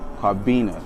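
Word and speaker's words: Kwabena: born on a tuesday so it's kabina it's like it's spelt and k-w-a-b-e-n-a but i changed it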